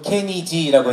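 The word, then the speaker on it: Kenny G: 떠오르시나요 색소폰 연주의 거장이다 케니지 그렇죠 감사합니다 정확한 발음으로 케니지라고 해주셨습니다 색소폰 연주의 거장이라고 하면은 케니지를 모두가 또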